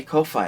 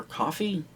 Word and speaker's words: Ko-fi: I still do have a Ko-Fi account, or Coffee? I've heard it pronounced both ways.